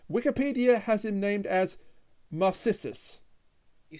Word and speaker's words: Narcissus: No, that's Narcissus, not Marcissus.